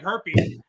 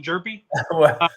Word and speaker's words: Hjerpe: It looks like Herpy. like HJERPE, I believe, but it's pronounced Jerpy.